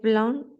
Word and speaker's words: blanc: Mute letters again. So not the noir, but the le blanc. Okay. We don't hear the final letter.